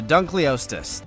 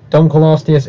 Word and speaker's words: Dunkleosteus: osteus don't call osteus here it is the Dunkleosteus every paleontologist is now crying because of you pronouncing Dunkleosteus this wrongly come on Dunkleosteus Dunkleosteus